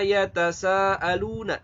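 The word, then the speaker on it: يتساءلون: Yatasaalun. Gitu ya. Yatasaalun. Ya, tasanya boleh 4, 5 harokat. Lun boleh 2, boleh 4, boleh 6.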